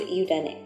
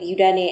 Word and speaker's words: Yudane: Yudane and Tangzhong are simply the same characters pronounced differently in different languages. In Chinese, Tangzhong, and in Japanese, Yudane.